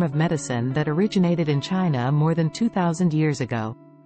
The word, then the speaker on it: Chi: of balancing the flow of energy or Chi pronounced Chi which is believed to flow through meridians in